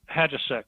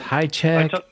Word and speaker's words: Hajicek: Hadjasek. Hadjasek. Okay. Yeah. I wasn't sure if it's Highcheck.